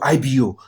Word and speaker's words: Igbo: Now, the Igbo IGBO was not easy for them to pronounce. Now, they brought it down to IBO, Igbo.